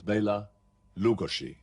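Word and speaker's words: Bela Lugosi: a central european actor his name was bayla lugoshi now that's the correct way of pronouncing it but that was probably a little bit too much for people to take and so he became immortalized under the name of baylor lugosi he made his name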